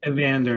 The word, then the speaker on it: Evander: The first of four for Evander Mills or do you call him Aander? How do you pronounce it? Evander is how I pronounce it.